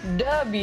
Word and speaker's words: Dubya: W. Yeah, D-U-B-Y-W. That's how we say it. That's how you say it in Texas.